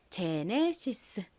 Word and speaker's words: Genesis: 바로 요렇게 쓰죠 뭔가요 가장 앞에 쥐가 기억 소리 혹은 지을 소리가 나는데 그중에서이 단어에서는 지을 소리로 쓰였어요 이는 한국식으로 읽을 때 보통에 소리로 읽죠 그리고에는 니은 소리 나고요이는 또에 소리로 읽고는 시 소리 아는 보통 e 소리로 읽죠 그리고 또는 시소리 소리 나서 제네시스라고 읽습니다 제네시스이 단어는 영어 단어인데요